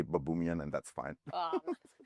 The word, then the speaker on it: Baboumian: it's babuman babuman but that would babuman which which sounds like some Roman kind of I don't know gladiator or ruler or whatever uh but yeah so so I say babumian and that's fine and and it's I'm